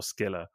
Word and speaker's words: Scylla: But most people go with either Scylla or Skilla.